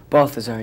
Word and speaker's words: Balthazar: Well, Balthazar, good morning. Good morning to you. I think you're the first person I've ever met who's named Balthazar. Am I saying it right? Balthazar, yeah.